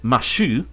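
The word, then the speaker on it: マシュ: There's Mashu, which is how you pronounce it in Japanese.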